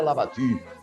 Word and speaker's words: Labatut: contrata o General Labatut alguns chama para tu é mas a pronúncia francesa lavaque eo General Labatut e